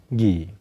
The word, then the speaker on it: ghee: د دې صحیح پروننسیشن صحیح تلفظ دی پیور ګي یعنی غوړي.